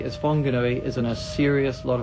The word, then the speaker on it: Whanganui: The original spelling was Whanganui since 1837 when it was first transcribed.